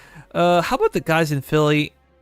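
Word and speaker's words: Howe: That was how, I believe it's pronounced. Yeah. How, I've been corrected multiple times. I always call him Howie, but it's How.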